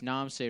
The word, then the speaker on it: Knomsai: kind of like n the K is silent yeah like the p is silent for anybody that wants to know it's Nam say radio k n o